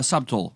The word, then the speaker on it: subtle: he was more uh subtle than that you know he had a crap there's you don't pronounce the b subtle you don't say